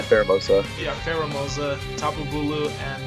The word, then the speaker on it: Pheromosa: As he has a team that is going to be Goodra, Celesteela, Gyarados, the Formosa or I think that's how you say it. Formosa. Yeah, Pheromosa.